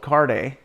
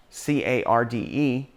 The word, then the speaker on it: Carde: one and two take place in is called carde c-a-r-d-e and he would always pronounce it um card which makes sense because